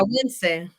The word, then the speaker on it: Nicaragüense: you said, yeah, Nicaragüense.